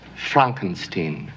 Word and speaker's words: Frankenstein: It's pronounced Frankenstein.